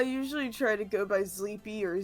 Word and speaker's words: Zleepy: Well, I usually try to go by Zleepy or Z.